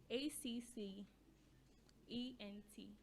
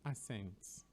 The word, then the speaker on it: accent: we have we have acc ent a c c e n t people normally pronounce it as ascent ascent what should it be accent accent with a k sound there accent because the c